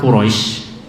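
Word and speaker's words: قريش: Nah, jadi misal kita baca surat Quraisy itu bacanya boleh dengan mat lin. Quraisy, ini lin namanya Quraisy. Kalau mat arid Quraisy 2, 4 Quraisy, 6 Quraisy. Nah, boleh dengan lin boleh.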